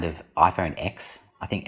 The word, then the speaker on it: iPhone X: Of course, you said you still pronounce it X. Most people I know still pronounce it X. I don't even want to go into explaining to people why it's called 10.